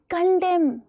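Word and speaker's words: condemn: एन कॉलम, autumn, कंडेम, हाईम, सॉलि डैम बोलते हो कि नहीं बोलते हो?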